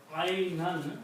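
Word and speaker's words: عينا: The words are isnata ashrata. Isnata ashrata aynan. Fine. Thank you. Ithnata ashrata aynan, and if you stop it, you say ayna.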